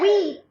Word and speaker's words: wheat: Wheat.